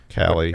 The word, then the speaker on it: Kali: Cali. Cali. Cali? Cali. Yes. Cali. Cali. Like going back to Cali.